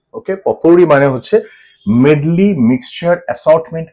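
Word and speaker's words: potpourri: ইউ আর আই পটপুরি কিন্তু পটপরি বলবে না প্রোনাউন্সিয়েশনটা হচ্ছে পপুরি ওকে পপুরি মানে হচ্ছে মেডলি মিক্সচার অ্যাসর্টমেন্ট কালেকশন মিশ্রণ অনেক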